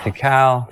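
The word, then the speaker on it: Dekal: properly so that we can fix any incorrect pronunciations. DeCal. He'll prove it here. My name's DeCal.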